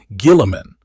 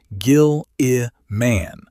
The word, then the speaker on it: Guilliman: Guilliman, with a hard G. Gil-i-man.